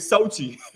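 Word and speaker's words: Xochitl: I knew a chick named Sochi back in Texas, man. Yeah, it spelled like XOCHTL, something like that. Sochi.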